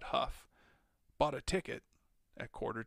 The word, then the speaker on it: Hough: gary watched him go bill huff he pronounced that huff bought a ticket at quarter to 11 and rat again at 11 30.